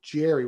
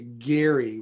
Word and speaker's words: gerrymandering: district look at salamander how we got to jerry with the soft g as opposed to gary with the hard g yeah nobody knows now